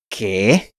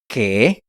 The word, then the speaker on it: qué: ¿Qué? In case you haven't noticed, the U in this word is silent. ¿Qué?